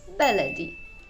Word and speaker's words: beledi: with the name itself we often see and hear two different pronunciations the first one is baladi b-a-l-a-d-i and the second one is bellady b e l e d i getting to the point both of them are correct it's just the case of using a modern standard arabic pronunciation which is baladi and the egyptian dialect